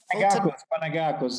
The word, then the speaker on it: Panagakos: Panagakos.